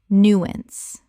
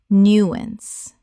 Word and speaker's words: nuance: nuance Correct pronunciation. nuance Two syllables with the stress on the first. The ow makes an ah sound.